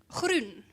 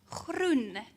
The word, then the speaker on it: groen: Groen. Groen. Groen. Try. Groen. Yeah. Groen. This one. Yeah. Okay. So you try to pronounce the word, and then the teacher helps you to say it's groen.